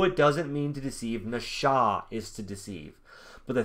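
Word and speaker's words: נָשָׁא: does not people it doesn't it doesn't it's nasha it's look na sha right it's it's it's pronounced nasha it's pronounced nasha but it's spelt n-a-s-a look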